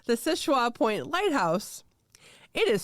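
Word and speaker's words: Seul Choix: it is no so it is called the sisha point lighthouse it is spelled s u l c h o iix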